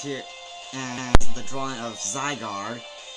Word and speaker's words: Zygarde: you pronounce it zygar you may think it's pronounced zard because of a d right here but the D is silent so now you know how to pronounce it zygar known to be the